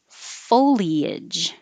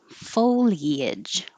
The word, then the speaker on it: foliage: yada yada yada this you can say foliage foliage or just two syllables foliage the dictionary said the two syllables is non-standard but that's the only one i use so if you want to be more correct use three syllables foliage ah this the debate